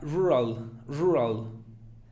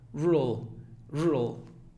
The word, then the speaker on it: rural: Algún estudiante básico diría rural. Pero la A no es A, sino que como que rural.